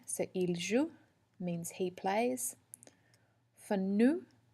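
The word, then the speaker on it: jouent: Notice that we don't pronounce the NT, it just sounds like the other top 3 forms, il joue.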